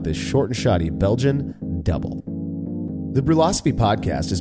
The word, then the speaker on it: Dubbel: just going to say it's double not duble but you call it